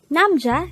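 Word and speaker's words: 남자: word number 124 this is pronounced as a two-syllable word the first syllable is num the second syllable is pronounce it with me namja is simply the korean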